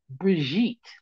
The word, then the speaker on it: Bridget: I didn't know up until then that the white bitch's name was Bridget, which they pronounce like Brigitte.